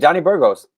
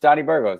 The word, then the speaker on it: Johnny Burgos: No, you said it perfect, Johnny Burgos. Okay. Yeah, in English it's just Johnny Burgos.